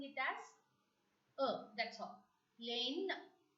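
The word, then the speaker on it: laine: Next vowel sound, A-I-E-I, which has to be pronounced as A.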